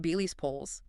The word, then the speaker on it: Billis Poles: And the practice lead mentioned in the material is Dr. Billis Poles. Yes, pronounced Beely's Poles.